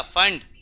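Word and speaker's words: Pfund: फंड, P silent है, फंड series.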